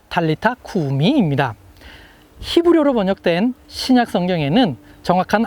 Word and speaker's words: 달리타 쿠미: 달리다굼. 이것은 아람어를 헬라어로 음역한 것입니다. 아람어로 정확하게 발음하면 달리타 쿠미입니다.